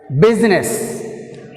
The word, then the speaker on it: business: బిజినెస్, business. In business word we have a syllable here B, first syllable.